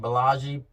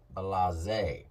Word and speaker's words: Blase: been pronouncing his name wrong I was saying BAGI but it's actually pronounced balaz and B myself and Big D from Tennessee